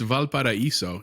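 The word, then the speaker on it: Valparaíso: these are sorry can you how do you pronounce it no shar it's valparaiso it's the first one and aleman which is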